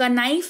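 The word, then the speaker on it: knife: उच्चारण नहीं किया जाता वेरी पॉपुलर एग्जांपल नाइफ क नाइफ नहीं नाइफ पढ़ते हैं यानी कि चाकू कनक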